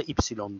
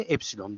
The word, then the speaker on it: epsilon: Yunanlar aslında ipsilon diye okuyorlar ama matematikte epsilon diye okunur.